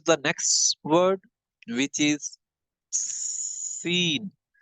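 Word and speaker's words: س: Seen again will has to be pronounced with the same part. This part of the tongue will come here, and seen will has to be pronounced, right? One thing should be remember, that seen will has to be pronounced with the voice of the whistle, the thin voice of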